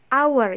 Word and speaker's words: hour: And then for words that start with a silent H. Jadi kalau misalnya ada kata yang huruf H-nya tidak dibaca, for example hour, bukan hour ya, but hour. Yang benar itu hour and honest.